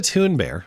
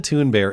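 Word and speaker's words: Thunberg: But uh Greta Tune Bear, which is the proper pronunciation, don't forget Greta Tune Bear and her uh her now internet appreciated assets uh were uh well, they're now back at sea.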